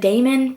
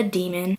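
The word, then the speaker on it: daimon: I would have said Damon, but it's actually a demon.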